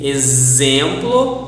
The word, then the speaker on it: exemplo: Also we have the Z, exemplo, the S, explicar, and the sh, enxergar. So the letter X can be pronounced as sh, S, Z, or x.